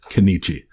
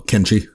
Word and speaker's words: Kenichi: There's an I in there. It's very like with the lettering. There's I didn't catch how you pronounce it. Kenichi? No, how did he pronounce it? Oh, Kenshi. Kenichi. Yeah, I say he just missed the I, which like I said